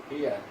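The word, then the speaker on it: heir: তাহলে আরো এরকম উদাহরণ রয়েছে, যেমন এ ইয়ার, এস ই আই আর। এখন এন এন ইয়ার, এন ইয়ার একজন উত্তরাধিকারী, এন ইয়ার। এই এইস কিন্তু উচ্চারণটা হওয়া দেয় না, উচ্চারণ দিছে হলো ও, এন ইয়ার একজন উত্তরাধিকারী।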